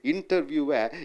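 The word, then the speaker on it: interview: இன்டர்வியூவை இன்டர்வியூ என்று சொல்ல வேண்டும்.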